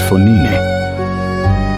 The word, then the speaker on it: Fognini: I'm the great Fognini, said the Italian, pronouncing his name as Fonini.